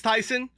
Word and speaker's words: Tyson: I got to think about the cooking, but yes, apparently it's Tyson. I was saying Tayson the entire last time, and everybody's like, "Why are you saying Tayson?" I'm like, "Because it's spelled that way."